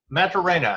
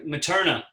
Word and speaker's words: Materna: right and we are talking about the film metro reyna and am i pronouncing that correct uh materna paterna okay uh wanted to make sure we